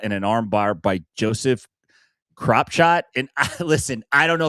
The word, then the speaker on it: Kropschot: Unfortunately, John Koonman gets caught in an armbar by Joseph Kropshot. And listen, I don't know if that's how you pronounce the name. It's spelled Kropschot. That sounds like Kropshot to me.